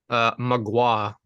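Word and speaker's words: Mgła: Magua.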